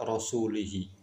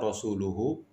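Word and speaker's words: رَسُولُهُ: Namun orang tersebut membaca dengan mengkasrokan kata rasulihi. Ya, harusnya rasuluhu, tapi kemudian dibaca kasroh rasulihi. Sehingga orang ini membacanya dengan Annallaha bari'un minal musyrikina wa rasulih.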